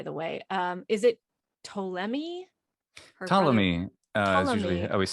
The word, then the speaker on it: Ptolemy: starts with a p good old silent initial p in english yeah just like like psychology yeah yeah it's just